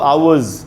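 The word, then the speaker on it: hours: अगर 1 से ज़्यादा 2 आवर्स तो एस जो लगाएंगे आप इसमें प्लूरल बनाने के लिए, बहुवचन बनाने के लिए, उस एस का उच्चारण ज के जैसे करना है, आवर्स, 3 आवर्स ऐसे।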